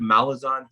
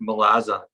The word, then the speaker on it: Malazan: we i was called we were calling it malazan he calls it melaza yeah malazan yeah yeah